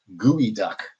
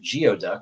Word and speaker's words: geoduck: might have pronounced it geoduck which seems logical but this is a word that actually has a different pronunciation than how it's spelled kind of like colonel or february uh it comes from